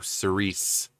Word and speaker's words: Cirice: we'll be listening to Cerise and yes that's how they the van pronounce it um now the art